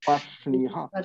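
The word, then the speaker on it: पार्ष्णिः: अर्षणयः पाषरणः पर्ष्णिः Vibrates in the same sequence you pronounce. Ra, sh, ni, ha. Same sequence you pronounce. Parshniha.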